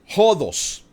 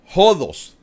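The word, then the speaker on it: ὁδός: La palabra camino en griego es o se pronuncia hodos. Camino en griego es hodos.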